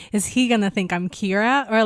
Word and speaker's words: Kira: kiddo by the way is uh Kayla yeah Kayla but in like a Japanese accent so I love how they say it too they really pronounce the r Kira Kira yeah and uh it's